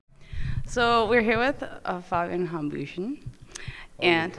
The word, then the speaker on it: Hambüchen: So we're here with Fabian Hambüchen. And you pronounce it right.